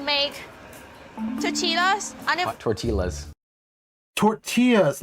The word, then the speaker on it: tortilla: Tortillas, not tortillas. Yeah, that's not how you say it.